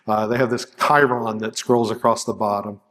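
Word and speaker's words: chyron: Uh they have this Chiron that scrolls across the bottom and uh yes, that's how it's pronounced.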